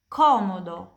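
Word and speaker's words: comodo: Kalau C diikuti dari A, O, U, dan H pronunciasinya kayak K di bahasa Indonesia, kayak kental dan kucing.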